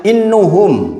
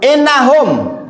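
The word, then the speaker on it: إنهم: Misalnya innuhum bacanya. Di belakang langsung innahum. Begitu. Hanya fathah menjadi dhammah saja ketahuan.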